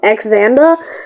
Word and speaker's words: Xander: And the only way was to release Xander. His name is spelled with an X, so I call him Xander. But it's Xander. So he released him from the cage.